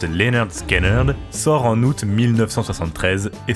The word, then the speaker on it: Lynyrd Skynyrd: l'enregistrement durera 5 semaines non sans quelques tension pronounced Leonard scenard sort en août 1973 et c'est un succès